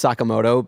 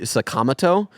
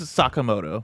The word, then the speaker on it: Sakamoto: to uh drill into my head that it's Sakamoto because a game that you and I both love Persona 5 uh they pronounce it ryuji sakamato and uh that is wrong and that is